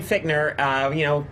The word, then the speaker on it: Fichtner: It is William Fichtner.